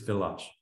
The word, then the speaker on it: village: It's spelled exactly like village. Okay. All right. But it's not. It's village.